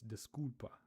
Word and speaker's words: desculpa: So it's desculpa. But it sounds like she's saying desculpa, like just completely ignoring the L.